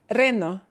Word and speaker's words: reno: And the word below it, reno, reno, reno. It's just the by itself, not a, but e.